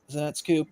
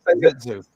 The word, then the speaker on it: Zenitsu: Oh yeah, the new Zenetsku Pop. What's his name? Zenetsku. I can never say it properly. I suck. Zenetsu. Zenetsu. And when Thank they you. say at the end of the show, it's Zenitsu.